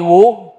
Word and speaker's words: Woo: By the way, call me Wu. You can check the pronunciation and the spelling in the English dictionary.